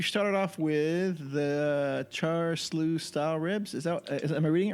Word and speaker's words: siu: Yeah, Siu. char siu. Siu. Yeah. Okay, I'm sorry. That's So like yeah, that's like SIU is like shoe, but it's the pronunciation is it's Chinese.